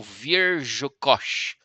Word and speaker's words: Wierzchos: Aproximada em português seria, ó, o W soa como V, o I é a pronúncia de I, o R Z é basicamente a pronúncia de J, né, como Ja, é mais suave assim.